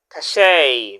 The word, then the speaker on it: cachet: our second word again you still Remember the pronunciation of the word cache.